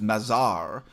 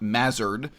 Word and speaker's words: Mazar: So my name is Mazar, not Mazard, but I'm not fussy about it.